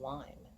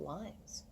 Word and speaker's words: Lyme: And most people don't even know how to pronounce what my disease is supposedly called, which is Lyme. They call it Lyme's.